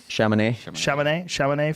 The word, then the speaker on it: Chamonix: 1 L-I-A-N-J-O-R-N-E-T, and he's running in Chamonix. How do you say that? France. Chamonix, France.